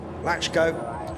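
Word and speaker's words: Lacko: the earlier race Adam it's written Lao but I'm told it's pronounced lachko in uh the check uh he has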